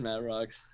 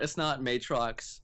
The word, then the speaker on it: Mattroks: It is Mattroks. Okay, great. It's not Matrox as opposed to what many people seem to think it is.